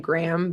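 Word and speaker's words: Graeme: a picture book by I think you pronounce his name Graham Base. Um, Graham, it's a very British spelling of it.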